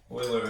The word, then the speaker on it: Euler: Euler is a Swiss mathematician, I want to say, and his name is spelled E-U-L-E-R. All right, it's pronounced Euler.